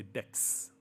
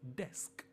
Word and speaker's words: desk: In fact, I've heard many people who say dex.